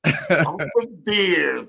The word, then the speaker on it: Elsevier: How do you is that Elsevier? How do you pronounce that? Elsevier. Elsevier.